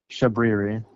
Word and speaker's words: Shabriri: Shabriri.